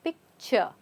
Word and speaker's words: picture: is picture pict picture again we're not saying CH we're not saying this word we're not pronouncing this exactly the way it is it's picture this is looked at as a CH picture picture picture perfect